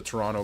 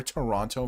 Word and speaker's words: Toronto: day, sometimes with your Toronto Maple Leafs. I don't know why I pronounced the second T there, your Toronto Maple Leafs.